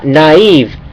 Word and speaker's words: naive: naive naive สังเกต ว่า มัน ออก เสียง ว่า naive naive คือ น แล้ว ก็ EV EV naive